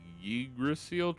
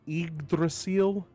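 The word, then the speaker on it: Yggdrasil: So, I know that the Y should be pronounced like E. Like, I'm I'm I'm mostly confused whether it should be igdrasil or Idrasil, right?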